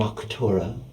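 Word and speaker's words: Arcturia: I am Arctura. It is a pleasure to meet you. How do you spell that?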